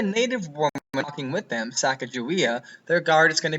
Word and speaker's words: Sacagawea: was a native woman by the name of Sacagawea, or Sacagawea, if you want to pronounce it correctly.